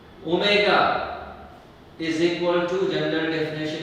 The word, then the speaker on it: omega: This is what representation है ओमेगा. W नहीं बेटा, इसका प्रोनाउंसिएशन क्या है? ओमेगा. ओमेगा. Okay, ओमेगा.